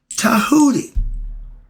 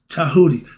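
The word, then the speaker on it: Djehuti: Tahoodi, spelled with the D. J E T. J E H U T I Tahoodi.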